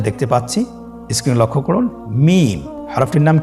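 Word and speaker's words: ميم: মিম। হরফটির নাম কি? মিম। মিম হরফটি উচ্চারণের ক্ষেত্রে অবশ্যই বারিক হবে, পাতলা হবে এবং 3 আলিফ টেনে উচ্চারণ করতে হবে। আমার সাথে আরেকবার চেষ্টা করুন। মিম।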